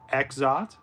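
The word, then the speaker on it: Exdeath: Final Fantasy 5, we get Exot. And yes, this is the one time you're going to pronounce the X there.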